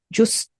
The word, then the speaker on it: Justh: Okay, so just I think is how it's said.